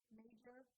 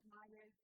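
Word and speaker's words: Meijer: So this one I got it in, I pronounce it as major, but it's pronounced Myers because, yeah, that's how I pronounce it. So I got it from Myers.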